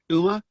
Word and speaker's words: Uma: The Uma, which is spelled UMA, the Uma, is it pronounced Uma? Like Uma Thurman.